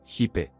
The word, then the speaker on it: hip: Significado metafísico de los hippies, la palabra inglesa, hip, significa cadera, la pronunciación fonética es hipe.